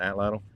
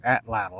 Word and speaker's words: atlatl: You're gonna go deer hunting with that atlatl? No, atlatl. That's how you say it.